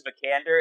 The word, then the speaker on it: Vikander: I'm gonna butcher her name, Alicia Vikander.